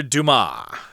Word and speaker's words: Dumas: legendary french author alexander dumas remember the s there is not pronounced in french at least in this